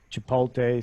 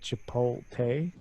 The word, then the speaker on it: Chipotle: you said that that I completely mispronounced that name I said cheapo pay and it's I'm making my own restaurants